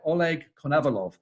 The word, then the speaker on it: Oleg Konovalov: I'm delighted to be joined today by Oleg Konovalov.